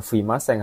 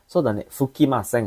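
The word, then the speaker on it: 吹きません: Jadi bacanya bukan fuimaseng harusnya. Fukimaseng harusnya nih. Fukimaseng.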